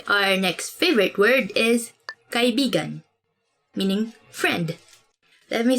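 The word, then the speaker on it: kaibigan: this word because like you have to say it like this kai bigan because means friend but when you twist it a bit uh and say it like this that's kind of it's not really a natural way of saying it but it actually means lover so like when you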